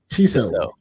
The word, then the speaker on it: Tissot: Oh, Tissot.